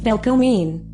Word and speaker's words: velkomin: However, Icelanders do appreciate foreigners learning a few useful phrases while visiting, including hello, pronounced hallo, welcome, pronounced velkomin, and yes and no, pronounced ja and nay respectively.